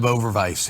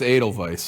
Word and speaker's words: Edelweiss: I look like the human version of Overvice here.